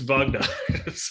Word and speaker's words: Wagner: So just getting a bit of a pronunciation on how you pronounce their surname. Hang on. That's about it. Lieutenant Wagner. Wagner. No, Wagner. Wagner. It's Wagner.